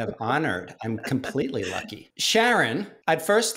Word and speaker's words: Sheron: the whole time but it's sharon not sharone after well see it